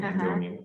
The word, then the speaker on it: Andonian: So it's spelled just like my name, which is my first name, last name Andonian, Andonian.